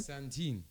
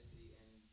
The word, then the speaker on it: Santon: Just try to pronounce them. Santin. It's S-A-N-T-O-N.